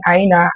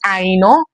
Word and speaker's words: Aina: So if my name is Aino, I shouldn't be saying Aina because it is Aino.